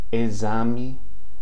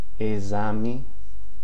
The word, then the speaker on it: exame: Now, the prefix EX, okay? The prefix EX before a vowel is pronounced as the Z, okay? Exame, exato. Exame, exato.